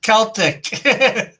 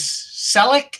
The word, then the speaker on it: Celtic: And I noticed Rick Law was mispronouncing your thing yesterday too. Couldn't read it as Celtic. It was Selleck.